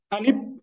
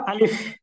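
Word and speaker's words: ألف: নাম হচ্ছে কি আলিফ এখন এটা উচ্চারণের সময় আমরা অনেক সময় আলিফ বলে ফেলি মানে এখানে যে ফ আছে এটাকে পেলি আমার স্ক্রিনটা কি আপনারা দেখতে পাচ্ছেন জি দেখা যাচ্ছে আচ্ছা আচ্ছা এটাকে বলবো আমরা আলিফ এরপর পরবর্তী হরফ এরকম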